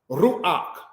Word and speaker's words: ruach: the patak first before you pronounce the ket. This is where you get words such as tapuak, apple, ruach, spirit, mafteak, key.